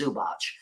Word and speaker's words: Zubac: I know how to say last name it's zubach but I don't know how to say the